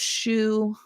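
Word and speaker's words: Shu: I think um but it's pronounced shoe like you know the shoe you put on your feet in the show it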